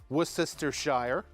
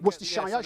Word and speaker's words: Worcestershire: So this is a little bit of Worcestershire sauce. Yeah. Worcestershire.